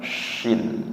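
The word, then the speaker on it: ش: Sedangkan syinnya itu tengah lidah. Nggih itu di penulisannya kalau istilahnya mangkoknya dua. Kalau yang mangkoknya satu tsa. Kalau yang mangkoknya dua syin yang tengah lidah. Nggih. Jadi hampir sama pengucapannya tapi beda tempat keluarnya huruf ya. Tsa itu ujung lidah menyentuh ujung gigi siri atas. Kalau syin tengah lidah yang naik ke langit-langit mulut ng faqulu minha haitsuum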